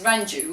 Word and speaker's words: Ranju: in a white area, a lot of people couldn't pronounce my name, so I said, okay, well, just say Duran Duran. Now, if you say it so many times, Duran Duran Duran Duran Duran Duran Duranju. Yes, there you go, you can pronounce it now.